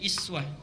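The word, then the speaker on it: أسوة: Dalam riwayat Al-Quran, di ilmu qiraat, ini kalimat uswah bisa dibaca dengan dua cara. Kalau Bapak Ibu belajar riwayat Qalun dari Nafi' atau Warsh, itu dibacanya bukan uswah tapi iswah, i di bawah.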